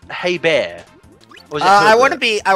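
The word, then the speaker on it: Hebert: I've heard it's pronounced hey bear uh I wouldn't be I wouldn't be surprised cuz I think it's French in origin um he's also the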